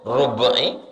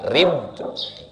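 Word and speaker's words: ربعي: Cara membacanya, ra-nya baris bawah. Kalau tak dikasih tahunya, orang bingung membacanya rub'i, rab'i. Rupanya yang betul adalah rib.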